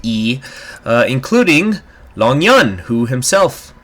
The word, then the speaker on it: Yi: Home to several ethnic minorities, including the Yi people, spelled Y-I, but I believe it is pronounced E, including Long Yun, who himself is ethnically a member of the Yis.